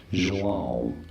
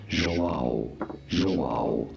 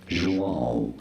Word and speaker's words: João: In Brazil, it is said as João. Very straightforward. Once you know João, in English it is usually pronounced as João, but in Brazilian Portuguese, João.